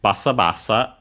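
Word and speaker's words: ばさばさ: In this case, their uh name is Basabasa with the dling. You might already guess that yeah, it's another uh lucky accent on the first more as usual.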